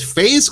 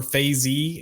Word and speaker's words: FaZe: because i wasn't sure if they pronounced their name phase or phase e and it is phase because they spell it capital f lowercase a capital z or kc um from what i